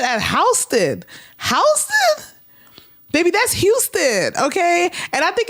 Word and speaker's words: Houston: Baby, that's Houston, okay?